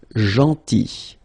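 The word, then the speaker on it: gentil: or tall then so remember this final L is not pronounced janty and it's nice or kind then aton Remember final uh you don't insist on it.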